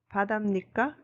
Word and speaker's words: 바다입니까: Vâng, tất nhiên, hầu hết mọi người đều phát âm nó là .